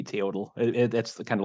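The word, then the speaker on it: teotl: Lucha T EO TL I don't know if it's Lucha t or how that is pronounced but I think it would be tootal that's kind of like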